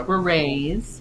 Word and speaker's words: Beret: say in Seal um it is beray so you have to put the French uh French accent on there the elite Beret um